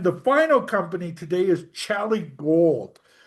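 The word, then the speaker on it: Xali: Now I say it like a Mexican because that's how Mexicans say their name. It's actually spelled Excuse me. X A L I and that's also their stock symbol.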